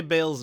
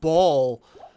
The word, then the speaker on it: Baal: She's She knows how to say Bale's name correctly, and I respect that. So, if you're going to sit there and be like, "Actually, it's pronounced ball." It's like, well, first of all, you're wrong.